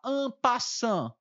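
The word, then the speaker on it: en passant: não conhece esse lance ele se chama ampa sã quer dizer em francês passando é a pronúncia correta quer dizer de passagem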